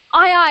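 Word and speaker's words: aye: So that's I like this I I which actually looks like a AA but it's pronounced like I.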